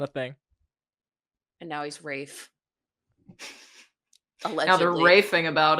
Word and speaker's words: Ralph: And I'm always concerned about Rafe Fine's pronunciation of his You notice I just said fines earlier. I just I just danced around the whole thing. I said Ralph so confidently for so many years.